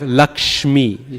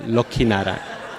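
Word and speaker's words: लक्ष्मी: Instead of Lakshmi, sha, ma, get rid of that. Lokhinarayan.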